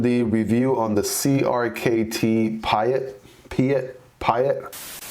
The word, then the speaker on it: Piet: review on the crkt Piet Piet so it is actually pronounced Pete Pete this is a